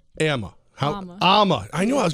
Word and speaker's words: Amma: Now, it's Amma.